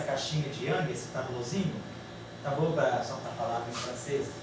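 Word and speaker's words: tableaux: A palavra tablô é 4, a palavra tablô não pronuncia o X, continua a falar igual, o tablô é 4.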